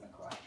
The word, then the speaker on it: LaCroix: Some people call it LaCroix. I call it LaCroix because it's from the Midwest somewhere. And they said that's how you pronounce it. You pronounce it LaCroix.